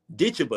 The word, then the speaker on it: Ditcheva: I don't know how to say her last name, but it's Dakota Ditcheva. Ditcheva. That's one of my best friends. That's my girl. Yeah. Say it again. How's the last name? Ditcheva.